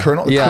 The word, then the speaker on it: colonel: I think of is a colonel like colel colel it's not like the way that you're going to spell is hard it's it like